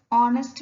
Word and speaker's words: honest: before them for example here h is silent he is an honest man it is silent i